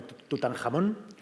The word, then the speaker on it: Tutankamón: Si separamos el nombre de Tutankamón, sería Tut-Ankh-Amón. Exacto. O sea que en realidad lo deberíamos de pronunciar como Tutankamón. Tutankamón, sí. Que no hay nada más español que eso, ¿no?